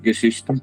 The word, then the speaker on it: Geschichten: I was listening to your latest release, Geschichten. Did I pronounce that correctly? Yeah, it's okay. Geschichten, yeah.